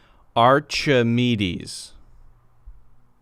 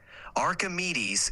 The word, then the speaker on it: Archimedes: Archimedes is pronounced aredes with the emphasis on the me give it a try Archimedes spot on you nailed it Archimedes is perfect nicely done